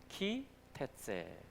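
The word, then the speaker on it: כי תצא: 자, 여기 키라고 읽어지는데요. 키 테째. 자, 키 테째.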